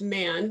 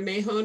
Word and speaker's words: Mahone: me um my uh my last name is actually uh pronounced man but don't feel bad because it's either mayhon or or a variety of other things most of the